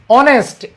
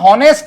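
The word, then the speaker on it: honest: এরপর দেখো, অনেস্ট, এইচ এর উচ্চারণ তুমি কি কখনো হনেস্ট বলো?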